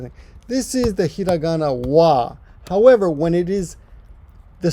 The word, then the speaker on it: は: every sort of thing this is the hiragana wha however when it is the subject or topic marker it is pronounced at well hold on it's a topic